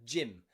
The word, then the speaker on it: gym: Okay, that'll help you to remember that GY is often pronounced with that J. The energy, G, of the gymnast at the gym.